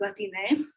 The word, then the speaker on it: Latine: And so in Spanish and in Spanish communities, often it's pronounced with an E at the end, so it's Latine, to be more gender neutral.